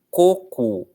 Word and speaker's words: coco: Coco, a fruta, né? Coco, não precisa de acento também. Por quê? Porque, ó, coco, a força está na primeira sílaba, na penúltima, tá? Ou seja, é uma paroxítona.